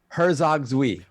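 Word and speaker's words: Herzog Zwei: Boxenberger to correctly pronounce Herzog's-Ui? Ooh, Herzog, what? Herzog, the old Sega RTS game called Herzog. Yeah, we got to send it to him. He might not. Herzog, and and Zui is ZWEI.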